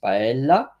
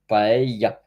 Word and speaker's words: paella: I was pronouncing first paella, but the double L in Spanish is ya, so paella.